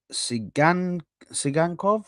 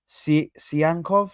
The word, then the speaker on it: Tsyhankov: about is um uh Sean sanov I think it is sanov sanov is I think how you say his name I think it's sanov um so a um